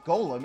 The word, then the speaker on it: GOLM: course is is uh g-o-l-m much to a surprise that ended up being pronounced golem anyway on the side